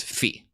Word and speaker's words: phi: minute so phi yes phi is actually pronounced fee all right that's how